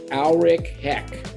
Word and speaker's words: Aleric Heck: I'm going to make sure I pronounce the name correctly because it's not spelled that way. Aleric Heck.